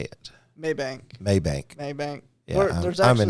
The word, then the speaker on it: Mabank: Maybank.